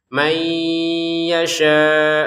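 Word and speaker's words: مَنْ يَشَاءُ: Nah, di sini man yasha kita masukin nun sukun ke ya-nya sehingga bacanya mai disertai dengungan mai, seperti itu ya. Mai yasha, yasha-nya di sini 5 harokat.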